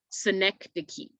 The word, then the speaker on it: synecdoche: a couple times is synecdoche synecdoche so that c-h-e at the end is pronounced like key like a k that c-h is pronounced like a k synecdoche so the definition of